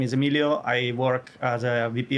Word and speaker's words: Emilio: My name is Emilio.